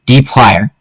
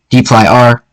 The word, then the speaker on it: dplyr: dplyr technically pronounced dee-plier, but it can also be pronounced dplyr, dee-ply-r.